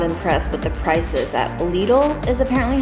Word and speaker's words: Lidl: was super not impressed with the prices that Lidl is apparently how you say it all the